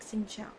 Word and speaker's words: xin chào: How you pronounce it is like xin chào, but how you actually write it is like this.